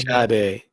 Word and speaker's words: Sade: I see Sade and Maxwell on Sade. It's actually Sade with our Sade.